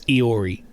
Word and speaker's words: Iori: That's another one, chat, that you wouldn't be able to figure out if you didn't know how Japanese stuff works. That is Iori, is how you say that name.